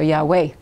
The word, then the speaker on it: Yahweh: Probably, well, if you pronounce the Vav as a W, it would be more Arabian Peninsula. The Yemenites all pronounce, the Yemenite Jews from Yemen pronounce the Vav as a W. So Yahweh.